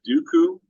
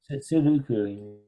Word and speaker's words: Sudoku: Is it Dooku? Dooku? Sudoku. What is it? Sudoku. S-U-D. God, I'm not gonna spell it right.